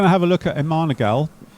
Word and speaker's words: MMANA-GAL: have a look at a manal you can pronounce it how you want apparently um I'll tell you why